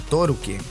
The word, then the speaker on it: Tolkien: Tolkien, sí, el mismo autor del Hobbit y El Señor de los Anillos, que en japonés se pronuncia como Torukien, y es por eso su nombre.